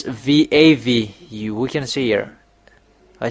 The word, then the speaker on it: Vav: This is Vav. It's V AV.